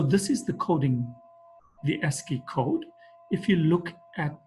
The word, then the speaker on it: ASCII: For example, the ASI code for uppercase letter A is 65. So this is the coding the ASI code.